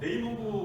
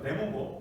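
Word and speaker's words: 내몽고: 제가 아까 말씀드린 대로 지방정부에서 네이몽고 같은 네몽고, 우리말로 네몽고죠. 요즘에 이렇게 좀 중국 발음으로 하는 게 그거라 네이몽고 저도 이렇게 표시했지만 네몽고입니다. 네몽고.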